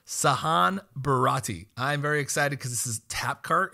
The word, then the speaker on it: Barati: host Mr Gabriel Flores today I have siron bahardi oh I messed up your last name it's all good it's h it's pronounced Sahan barati Sahan barati I'm very excited because this is tap cart